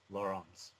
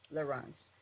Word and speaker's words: Laurens: French pronunciation Lauren and his is the Dutch pronunciation laurance laurance we would also like